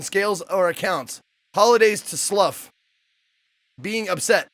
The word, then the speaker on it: Slough: Okay, Slough is pronounced Slough and considered the worst place in England. Okay. But it's pronounced, or it looks like, that's another word, like you slough off something.